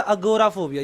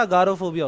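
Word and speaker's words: agoraphobia: चलो आगे चलते हैं, अगली चीज़ है अगोराफोबिया। ये उसकी स्पेलिंग थोड़ी गलत है। अब अगोराफोबिया, अगोराफोबिया होता है या अगारोफोबिया होता है? बताओ, लेट्स चेक। अगोराफोबिया होता है, राइट।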